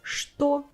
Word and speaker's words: что: In the old Russian, it was common that ch was replaced by sh in colloquial speech. But in bookish or high society speech, it was always ch. So we kept this sound, we didn't change it, we didn't replace it with sh, and it was this bookish, beautiful language.